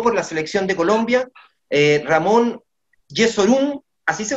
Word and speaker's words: Ramón Jesurún: rueda definitivamente firmó por la selección de colombia ramón jesurún así se pronuncia no sólo es el presidente de la